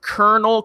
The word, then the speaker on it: Colonel: so um alright so you'll see Colonel it's pronounced Colonel comics then spell it colonel